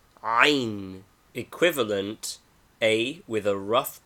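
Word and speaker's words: ع: Name, Ain. Equivalent, A with a rough breathing, etc. Pronunciation, a guttural sound only heard in Arabic. It must be learned from a native.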